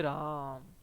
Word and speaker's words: राम: ठीक है, यानी कि जो राम शब्द है उसमें जो म है उसको हम लंबा खींचते हैं, हे राम। ठीक है, तो यानी कि इसके उच्चारण में क्या लगा है, समय सबसे ज्यादा लगा है।